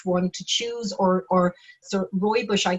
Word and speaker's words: rooibos: obviously the best one to choose, or so rooibos I call it, but I'm sure I'm not pronouncing that right.